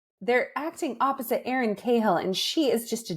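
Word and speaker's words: Cahill: and they acting opposite I always say last name wrong somebody help here kill kill yes they're acting opposite Aaron kahill and she is just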